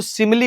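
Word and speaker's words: simile: इसका जो उच्चारण है वह सिमली होता है।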